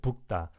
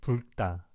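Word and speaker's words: 붉다: Like third one today, this time 북다 or 불다. I usually pronounce as 불다, and a lot of people do, I think, in my opinion.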